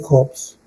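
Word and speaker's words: Hobbes: En el caso de Jobs, ¿no? Así se pronuncia, Jobs.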